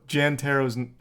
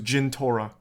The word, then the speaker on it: Jintora: Also, Jantaro's... That name didn't even come up. You got that name wrong. It was Jintora.